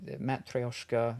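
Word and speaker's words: matryoshka: as Russian nesting dolls people who can't pronounce that word well matoska incorrectly often called Babushka dolls Babushka is grandmother Matt thosar is actually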